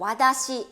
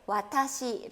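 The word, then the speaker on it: わたし: 틀 드시는 경험 않습니다 자 이렇게 이번처럼 와 다시 되지 않도록 조심하시구요 그쵸 그 다음에 앗 아씨 이거 저도 또 아닙니다 자 정확하게 와타시 1호 예쁘게 발음 하시기를 바랄게요 자 그 다음 문제입니다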